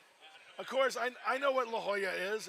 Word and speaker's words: La Jolla: course I know what La Jolla is it's it's pronounced like in Spanish I get it now